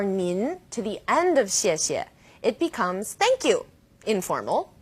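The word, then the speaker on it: 谢: pronunciation of CS yet you can think of it kind of like the word she and a she she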